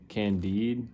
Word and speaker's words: Candide: I've only read Candide, I believe is how you say it.